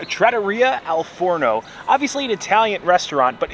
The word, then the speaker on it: Trattoria al Forno: Oh, Trattoria al Forno.